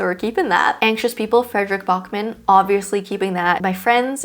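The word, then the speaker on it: Fredrik Backman: Every time I say his name, I say Frederick Brockman, and then I have to edit it out and say Frederick Bachman.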